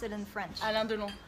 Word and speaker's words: Alain Delon: How do you pronounce it in French? Alain-de-long. Alain-de-long.